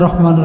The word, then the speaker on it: রাহমানির: বলো দেখি দেখবেন পারবে না কি বলবে বিসমিল্লাহির রহমানির রাহিম শেষ এটা কি হয় হয় না তো বিসমিল্লাহির রহমানির রাহিম এটা তো উচ্চারণ না বিসমিল্লাহির রাহমানির রাহিম রহমান মানে দয়ালু